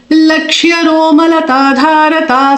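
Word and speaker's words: लक्ष्यरोमलताधारता: Lakshya Ro. Ro has a O matra. And Lakshya Romala. Ma and La are small. No, there are no matras on them. Small syllables. But Ta Dha has dirghas. Ta Dha. And Ra again no dirgha. And again ta has a dirgha.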